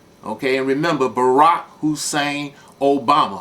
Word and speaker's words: Obama: Okay, and remember, Barack Hussein Obama. Obama rhymes with Osama.